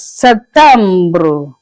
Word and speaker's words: septembre: In French, you pronounce it as septembre. Septembre. It's like the P is silenced a little bit.